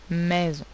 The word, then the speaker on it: maison: Encore une fois, on dit une maison, mais c'est maison.